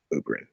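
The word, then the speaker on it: Oborin: say his name or oberyn's name sorry o-b-o-r-i-n o ubering yeah that's right yeah look when you say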